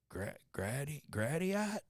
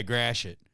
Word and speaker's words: Gratiot: But my favorite two times a truck driver is like, yeah, I'm looking for Gradiat. I'm like, yeah, Gratiot. He goes, that's how you say it, Gratiot? I go, yeah, it's French.